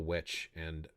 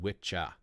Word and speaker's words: wicca: Old English, there are two words which I believe are pronounced witche and witcha. Witcha is the one that you put there, and that is for a male practitioner, and witche is for a female practitioner.